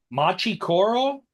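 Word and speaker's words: Machi Koro: are gonna have to correct me if I mispronounced this Machi Coro that's correct Bri lights big city uh are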